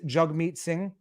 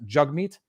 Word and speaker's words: Jagmeet Singh: up with jagmeet and i only recently realized it was it was pronounced jug meat i actually thought people